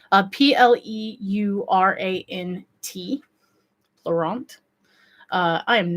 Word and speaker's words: pleurant: And they're also called, I'm going to butcher this because it's French, but pleurant, I believe it's called. It's spelled Pleurant.